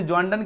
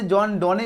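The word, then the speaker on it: John Donne: बोलो इसे जॉन डन के द्वारा लिखा गया, बिल्कुल सही जवाब है। ऐसे जॉन डोने इसको पढ़ा जाता है रियलिटी में, लेकिन जॉन डन जो है इसका सटीक प्रोनाउंसिएशन है, ठीक है।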